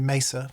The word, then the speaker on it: Mesa: mess of 50 50 sorry Mesa for those of you who pronounced it correctly Mesa Boogie 5050 stereo power